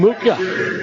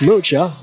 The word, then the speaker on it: Mucha: Ends from Muka is the announcement. It's Mucha.